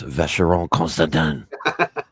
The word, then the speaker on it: Vacheron Constantin: As the resident French expert, let me pronounce it for you. It's Vacheron Constantin.